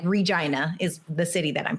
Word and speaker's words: Regina: And the prairie like Regina is the city that I'm from. The slogan is the city that rhymes with fun.